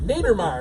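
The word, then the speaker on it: Neidermeyer: In which movie character Douglas Naiddermire Nethermire Nethermier, that's how you pronounce it.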